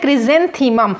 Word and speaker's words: chrysanthemum: तो क्रिजेंथीमम की स्पेलिंग ये होती है, देखो CHRYSANTHEMUM, इसे बोलते हैं क्रिजेंथीमम।